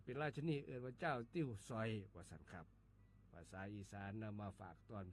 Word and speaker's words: ติ่วซ้อย: ว่า ติ้ว ส้อย ครับ ติ้ว ส้อย เขียน ต่อ เต่า สระอิ แม่ เอก ว แหวน ซอ โซ่ แม่ โท อ่อ อ่าง ย่อ ยักษ รวม กัน แล้ว อ่าน ว่า ติ้ว สอย ครับ ติ้ว สอย เป็น